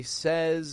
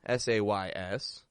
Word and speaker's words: says: what it says however we want to pronounce it a little differently from how it's spelled SE says repeat after me you say he says I said so you